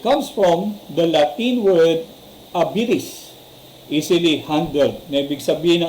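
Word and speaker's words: habilis: It comes from the Latin word abilis, easily handled.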